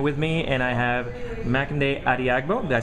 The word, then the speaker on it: Makinde Adeagbo: I have Tom Occhino with me, and I have Makinde Adeagbo.